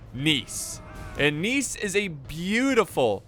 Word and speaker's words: Nice: siege of nice okay well it's it's not pronounced nice it's spelt like nice in the english language but it is pronounced nice and nice is a beautiful mediterranean city and